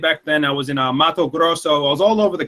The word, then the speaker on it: Mato Grosso: I was in Mato Grosso. I was all over the country, really. Paraty. What were you doing? Mato Grosso? What is it called? Mato Grosso? Yeah, that's perfect.